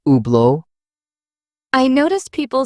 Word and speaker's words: Hublot: Some pronounce Hublot with a strong T. The French pronunciation drops the T, making it Hublot.